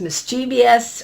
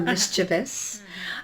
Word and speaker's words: mischievous: was adventurous she was mischievous or mischievous um as some pronounce it East coaster you say mischievous don't you mischievous yeah I Say mischievous but I think it's correct to say mischievous she was a definitely